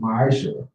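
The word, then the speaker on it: מעשר: Means tenth in the Hebrew, and is pronounced ma'asher.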